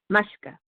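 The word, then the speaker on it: maashka: I spell it M-A-A-S-H-K-A, mushka. And that's how I say it.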